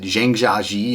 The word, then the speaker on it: Zhangjiajie: Yeah, I've been to a lot of places, and probably my favorite of everything, I went to this place, I pronounce it Zhangjiajie.